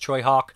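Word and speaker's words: Tsui Hark: It's not spelled that way, but it's pronounced Choi Hawk, and this is Dangerous Encounters of the First Kind, I believe it's called that.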